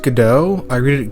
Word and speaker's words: Godot: And it's pronounced Godot. I read it Godot, but it's pronounced Godot.